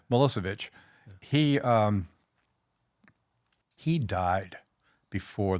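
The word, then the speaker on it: Milošević: Technically, it would be Malos Chvich, but no one ever pronounces that way. Melissovich.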